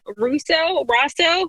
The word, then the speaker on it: Rosseau: We are here today with James Rosseau.